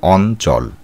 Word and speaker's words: অঞ্চল: এর উত্তর হবে অ ইয়চয় ল অঞ্চল শব্দটির সঠিক উচ্চারণের রূপ হল অ দন্তন্বয় হসন্ত চ লয় হসন্ত অঞ্চল।